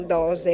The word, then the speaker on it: Dox: la nostra bolcina 121 dose in lingua Veneziana Tant'è vero che è scritto Dox con la x e con orgoglio lo pronunciamo dose il 121 dose rispecchia